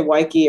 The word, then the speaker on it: Weike: I usually say Weike, it rhymes with Nike, or it's like Beach.